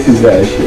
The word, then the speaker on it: Tinashe: Well, I'll do it again. Tinashe, I'll do it properly. Tinashe. I thought I'd done so well there. No, there's no accent on it.